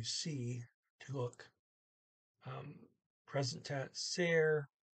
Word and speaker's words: ser: and notice here that ser rhymes with the word air when you see an